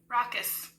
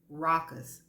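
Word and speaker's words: raucous: get the second word the second word is spelled r a u c o u s here we go this is how it sound rockus rockus rockus rockus I don't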